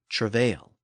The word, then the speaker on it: travail: Meanwhile, travail retains the original French emphasis on the final syllable, as is common in French words.